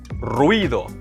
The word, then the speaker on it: ruido: Ruido, not ruido, it's ruido. One syllable.